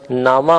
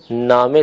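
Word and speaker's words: نامه: زیر کی طرف ہے۔ ہم اردو بولتے ہوئے اسے خانہ کہتے ہیں، یا اگر لفظ نامہ ہو تو اسے خبر نامہ وغیرہ نامہ کہہ کر تلفظ کرتے ہیں، جبکہ فارسی میں زیر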